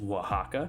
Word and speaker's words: Oaxaca: of shredded Oaxaca cheese that is oxaca I'm pretty sure but it's pronounced Oaxaca once that is a